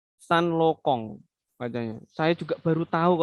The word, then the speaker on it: Saint Laurent: terkenal ya kayak ini Saint Laurent parisienne pengucapannya bisa salah maka itu bisa-bisa malu-maluin ya padahal yang bener ngomongnya Pak stand Lokong adanya saya juga baru tahu kalau Mbaknya saintloco ya Pajero tulisannya Saint